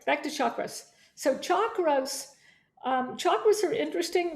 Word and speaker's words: chakra: channels and what are sound channels they're really chakra channels what are chakras it's not pronounced chakra it's pronounced chakra and what are